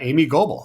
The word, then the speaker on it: Amy Gobel: She's a co-founder of the Alliance for Responsible Capitalism and her name is uh Amy Goble. I think I nailed that right. I pronounced Amy correctly, didn't I?